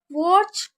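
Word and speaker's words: watch: वॉच आउट, यहाँ पर देखिए टी साइलेंट है, तो वॉच आउट का मतलब क्या होता है?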